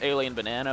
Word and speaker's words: Al13n l34n4n4: probably also put it on the screen it's pronounced alien banana but it's a l13 n um space L3